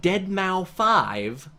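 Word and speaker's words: deadmau5: Because they had Dead Mouse 5 doing a Dead concert. Mouse 5. That's Oh, how yeah. you pronounce it.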